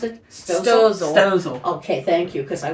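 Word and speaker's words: Stoelzle: Oh, so you know, how do you pronounce it? Stozel.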